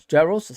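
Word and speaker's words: Jaroš: As you can see, the Europa League squad it's obviously Kelleher, Allison, and Jaros.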